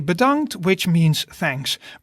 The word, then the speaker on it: bedankt: be predomed so in dutch we would say badangt which means thanks badant is good in almost any situation and it's